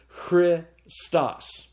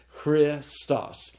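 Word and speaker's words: Χριστός: This is the word for Christ, and hero and sigma tau can be pronounced together. So they're kept together and they go with the following vowel. So it's Christos.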